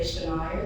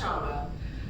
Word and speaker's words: Shauna: I know you want to say Shania. It's okay. It's pronounced Shauna.